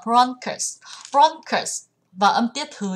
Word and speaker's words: bronchus: có đáp án D, từ này sẽ đọc là bronchus, không đọc là bronchi nhá, sẽ là bronchus.